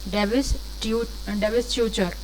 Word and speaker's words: divestiture: Divestiture. Do not spell it divestiture. It's not T, and T is not pronounced here. Divestiture is the divestiture. That is the real pronunciation of this.